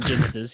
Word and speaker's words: Ginsters: Northern probably eating ginsters, yeah.